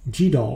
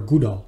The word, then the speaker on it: GDAL: line but you'll also learn jll or gll the pronunciation depends on who you speak with I will use jll and jll is basically